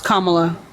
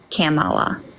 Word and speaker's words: Kamala: know that Kamala is Indian and Jama it's Kamala yeah well I have a speech impediment so